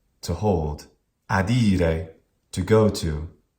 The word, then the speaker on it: adire: Adire, not adire.